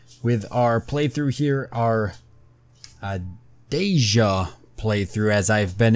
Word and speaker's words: Dacia: is the correct one so it's kind of like Asia but with the deme so deja she's got deja here